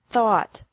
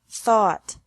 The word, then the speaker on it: thought: teach taught taught think thought thought remember that the G is silent in these verbs verbs with three different